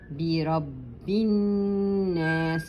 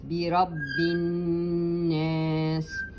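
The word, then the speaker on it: بِرَبِّ النَّاسِ: So the rule says that if you have a noon with the wave like, which is shadda, then you give it two periods, like this. The alif has nothing on top of it, you give it also two periods. Bi Rabbin Nas. And you give this whisper of the sin.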